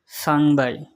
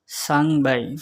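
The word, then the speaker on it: 三百: বাই আর বাই আর বাই 300 China ভাষায় উচ্চারণ হবে সাংবাই সাংবাই চায়না ভাষায় উচ্চারণ হবে সাংবাই 400 চায়না ভাষায় উচ্চারণ হবে সি বাই সি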